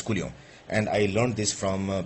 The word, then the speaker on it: coulomb: Actually, I'm pronouncing it as coulomb because that's the real pronunciation here. It's not coulomb as people say. It's coulomb.